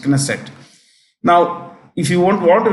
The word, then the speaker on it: Knesset: K is pronounced Knesset.